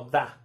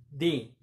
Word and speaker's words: the: a utilizar, por ejemplo, aquí tenemos una consonante, entonces vamos a pronunciarlo como da, the morning, in the morning. Y si tenemos una vocal, como aquí, afternoon and evening, vamos a pronunciarlo como di, in the afternoon, in the evening, ¿sale?